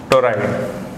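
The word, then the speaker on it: toroid: अपन, application number two, टोराइड। English में भी इसको टोराइड बोलते हैं, TORROID, टोरोइड, टोराइड, कई तरह से इसका प्रोनाउंसिएशन किया जाता है। हिंदी में भी इसको टोराइड बोला जाता है।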